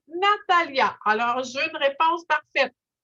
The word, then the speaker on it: Natalija: Alors, c'est Natalia, on l'écrit N-A-T-A-L comme Lima, L-I-J-A. Alors, mais on prononce Natalia.